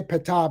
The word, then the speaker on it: Ptah: Ptah, by the way, we say Ptah because the R makes it easy to pronounce, but it's Ptah, Ptah, Ptah, Ptah, Ptah, Ptah, Ptah, Ptah, Ptah.